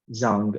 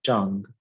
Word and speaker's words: Jang: is a chinese name it's not pronounced zhang it's pronounced jang there are about 100